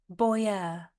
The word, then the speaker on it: boyar: our tutor word of the Week Philadelphia it is spelled b o y a r Boer and a Boer is a member of the